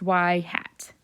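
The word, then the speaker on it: ŷ: don't say y equals anymore um this means y hat that's how or sorry this is pronounced y hat that's how we pronounce it so y hat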